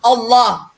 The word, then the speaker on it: Allah: terus pathak tidak menjadi Allah Kayak orang is orang apa di Indonesia ya tetap orang sana Allah cuman lemnya itu double l nya itu double jadi pengucapannya seakan-akan kita mendengarkan itu seperti ooooooh enggak Ya Allah